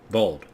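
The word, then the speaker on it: Voeld: Vold. Vold, yeah, that's it.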